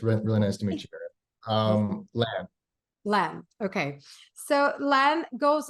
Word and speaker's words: Lan: Now, Alan, that's how we say his name. Yeah, you can just, good morning, by the way. It's really nice to meet you. Lan.